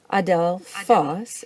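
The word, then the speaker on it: ἀδελφός: so here's an example Adele Foss is the word for brother and it likes to be accented and the last syllable when you see it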